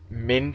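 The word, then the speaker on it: Minccino: Pat rat and she M Min sounds like mince Mino right I could have them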